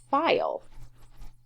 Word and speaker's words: file: E for the word file? And hopefully you said yes, because that I makes the long sound, file. So you do need to have a silent E at the end.